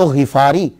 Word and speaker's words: غفاری: یہ اصل میں کیا ہے کہ یہ غفار ہے، غین کے نیچے زیر ہے، فا کے اوپر سمپل زبر ہے، تو غفاری. تو صحیح تلفظ یہ ہوگا ابو ذر غفاری.